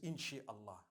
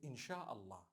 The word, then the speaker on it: إن شاء الله: if Allah Wills right how do you say create Allah you would say in it is the instruction right the command inchi means to create no one says inshi Allah they say insha Allah that's what it is